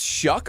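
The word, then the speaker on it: Shough: There's no C or K. True. There's a so it's like S-H-U-G-H. Yeah. It's weird. I don't know. English is weird. Yeah, Shuck, obviously.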